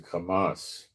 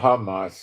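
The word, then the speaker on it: חמס: Maybe I'm pronounce I should pronounce a kamas. Yeah, maybe pronounce a kamas. Um, it's not hamas. It's a not a h sound. Not a hey.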